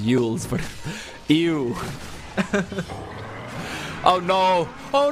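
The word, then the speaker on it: Eul's: You can't say eels without saying ew. That is true. Actually, you can. It's pronounced yules, but ew.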